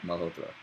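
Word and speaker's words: Malhotra: it in an American way so people can pronounce it. Uh-huh. Siddharth, how do we say that? Malhotr.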